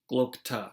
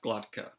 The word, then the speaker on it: Glokta: Glokta, not Glotka.